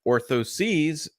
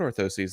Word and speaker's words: orthoses: orthosis in general scoliosis orthosis is a noun and it's singular Ortho sees is plural just like prostheses would be plural so the correct way to say the things that go into your shoe foot inserts would be hey look at these new foot orthoses that we're doing or